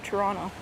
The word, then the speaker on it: Toronto: Why don't people in Toronto pronounce the T at the end of Toronto? You can pronounce it either or, Christian, but I think people prefer Toronto.